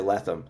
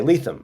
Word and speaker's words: Lethem: People will say Letham and I have to say Letham, you know, it's like I just it's like almost like sneezing.